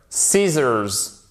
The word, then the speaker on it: scissors: On va pas chercher plus loin, mais vous voyez que le C, en fait, généralement, quand vous avez un se devant, vous ne le prononcez pas, ok?